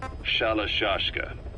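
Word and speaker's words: Shalashaska: somewhere along the line, Shashka got stuck on the end of Sharashka. The guerrillas were using the name amongst themselves, and by the time I got to hearing about it, pronunciation had wound up as Shalashashka.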